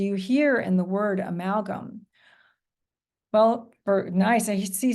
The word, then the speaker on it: amalgam: good and um Diane what was the second syllable ma good and the third syllable uh Sabrina gum right okay and